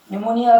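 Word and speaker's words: pneumonia: जैसे देखो, निमोनिया अक्सर आप सुनते हैं, न्यूमोनिया। यहाँ देखो, एन के पहले पी आ रहा है तो यहाँ पे निमोनिया में ये पी साइलेंट रहेगा।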